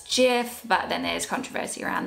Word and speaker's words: GIF: pronounce the word gif is it jiff or is a gif apparently the person that created it says it's jiff but then there's controversy